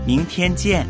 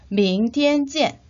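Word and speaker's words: 明天见: 明天见 발음이 익숙하지 않아서 잘 암기가 안 된다면 명태쯤을 생각해 주세요.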